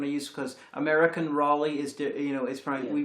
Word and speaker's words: Raleigh: It does, but I suspect I was trying to remind myself of the pronunciation I use, because American Raleigh is, we pronounce it Raleigh, and, Walter Raleigh.